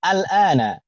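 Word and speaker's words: آلآن: di sana ini contohnya a dan bertemu dengan al-ana, a-nya hamzah istifham kemudian bertemu dengan al-ana, maka cara membacanya dijadikan satu, jadinya al-ana, gitu ya Bu ya?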